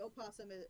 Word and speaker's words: opossum: And the opossum can be pronounced with a silent O or just an O.